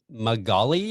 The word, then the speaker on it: Magali: Magali, if I'm not butchering that name, I hope, and Sarah Cruz.